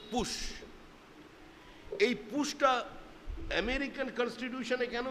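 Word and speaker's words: Putsch: সঙ্গে পরিচয় পরিচিত হলেন শব্দটির শব্দটির উচ্চারণ হচ্ছে পুশ বানানো হচ্ছে পি ইউটি এস সি এইচ পুশ এই পুশটা আমেরিকান কনস্টিটিউশনে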